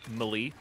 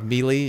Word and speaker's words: melee: actually a good idea does it bother you when people say like mali i used to say it like that then you change like melee yeah immediately actually it's a